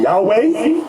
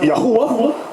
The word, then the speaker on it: Yahweh: Now, depending on your form of Hebrew, you have some people pronounce it Yahweh, another group pronounce it Yahuwah. We were taught Yahweh.